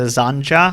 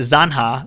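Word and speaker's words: zanja: use shovels to construct the azan ja Hasan sorry zan ha which is Spanish for ditch I'm glad you mispronounced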